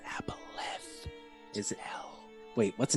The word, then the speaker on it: aboleth: We have a aberrant on our tails. It's pronounced aboleth.